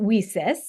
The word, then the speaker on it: WiCyS: and we pronounce it Weis uh like we sisters because that's exactly what we are we're This Global cyber